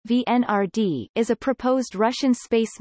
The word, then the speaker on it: Венера-Д: Venera-D, Russian, Venera-D pronounced VNRD, is a proposed Russian space mission to Venus